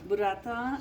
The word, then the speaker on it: Burrata: Burrata, absolutely. You said it right. I try. I'm from Nepal, so I try to pay Roll your respect. R's. Roll your R's.